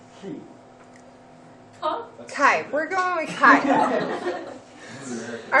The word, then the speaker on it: chi: what's your pronunciation? He. Huh? Kai.